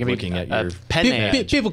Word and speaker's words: Penne: like looking at your Penne. People call me Pen for short. Yeah. I'm actually Penne, P-E-N-N-E. It's actually pronounced Penelope.